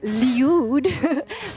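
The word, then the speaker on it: Lyude: love this name it's leud spelled l y u d e uh and that is how it's pronounced uh so go ahead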